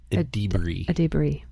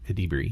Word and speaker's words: Edebiri: Actually, her name I think is actually pronounced like Edebiri. Edebiri.